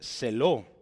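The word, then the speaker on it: ζῆλος: vea Hablamos de una palabra que se dice celo sí Entonces es casi igual se pronuncia sí se escribe así en griego Esta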